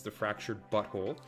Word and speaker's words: The Fractured but Whole: we got South Park the fractured but whole which is how you're supposed to pronounce it it's the fractured buckle which looks like a